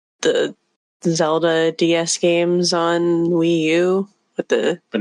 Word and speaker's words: Wii U: to it's the system closest to rhyming with pu and that's the sound of something that stinks and that's the Wii U yeah great ID on